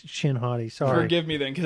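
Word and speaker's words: Shin Hati: I said it wrong it's not him shotty it's chin hoti sorry forgive me then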